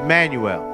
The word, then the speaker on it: Manuel: it's and it's not i said your name wrong didn't it it's manuel my bad my apology